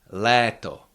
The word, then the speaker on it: léto: Leto that is summer. O is always pronounced uh like O in the English words dot a lot dot lot or o.